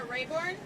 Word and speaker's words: Raborn: I'm Rayborn, and my last name is spelled Raborn.